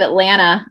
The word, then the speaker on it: Atlanta: They pronounce all the T's. But for locals, the T at the end is silent. It's just Atlanta.